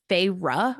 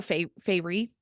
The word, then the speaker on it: Feyre: So her name is, and she pronounces it like on page 5 or 6, and it's Feyre, like Yeah. Ruh. I Yeah, Feyre. always call her Fairy.